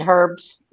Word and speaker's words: herbs: You guys do not pronounce the letter H. Okay, the stuff But it that you're going to depends. put on your food is what? You're saying herbs?